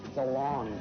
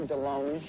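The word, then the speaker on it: DeLonge: ribs I and Tom Del long but it should be Delong cuz I went to France and they said you're pronouncing it wrong I'm all along you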